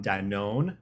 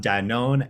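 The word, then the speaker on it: Danone: councils with speakers from Danon no that is not an incorrect pronunciation which I just learned in the last year um Danon and Pinterest joining us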